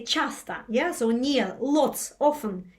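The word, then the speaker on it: часто: The Chastushka, the word, comes from chasto, which is in Russian often, chasta. Right, Justin, is that right? Chasta. The best way to pronounce it is chasta, often.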